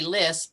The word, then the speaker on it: Lis: be tricky uh i hope yeah i usually say list but it's actually a polish name and they pronounce it in poland so um so you